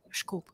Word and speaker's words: disculpe: The funny thing is that word is written like disculpe, and actually it's pronounced like schkulp.